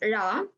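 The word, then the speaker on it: ழ: So this Ra is the special character in Tamil language. So when we pronounce Ra, we fold the tongue and touch the upper palate of the mouth.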